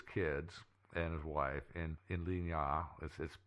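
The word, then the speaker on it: Lignières: He lived on a farm with his kids and his wife in Ligna. It looks like it's spelled like Lignieres, but it's actually pronounced Ligna. Yeah, because it's French.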